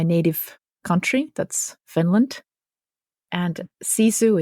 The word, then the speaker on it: sisu: she'll talk about her journey into and with cisu which will include her running a a 1500